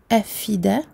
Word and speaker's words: الأفئدة: Ensuite, en ce qui concerne la hamza, il ne faut pas oublier de la prononcer. Il ne faut pas prononcer le mot afida. La hamza, malgré le fait qu'elle ne